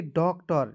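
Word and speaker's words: doctor: आर तो इसे पढ़ेंगे डॉक्टर, डी का डॉ और दो कंसोनेंट के बीच में ओ आएगा तो उसको उच्चारण औ के रूप में, टी ई आर देखिए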